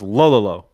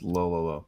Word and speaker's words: Lololo: I imagine it's pronounced like DDD, so it's Lololo. Yeah. It's low, low, low.